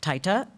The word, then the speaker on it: Taita: the target areas of Taita, am I pronouncing that right? Okay, Taita, Taveta, and Kwale in Kenya.